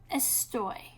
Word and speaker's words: estoy: When you take the AR off, you're going to add OY. It is irregular in the first person. It's pronounced estoy.